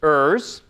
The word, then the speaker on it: EURS: As Linda said, this is Eliciting Unstated Requirements at Scale, EURS, and we pronounce it EURS, short for I don't know.